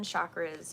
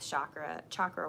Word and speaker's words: chakra: But one of the things that I like to address with chakra work, I'm trying to learn to say it right, chakra. It's not chakra, it's chakra.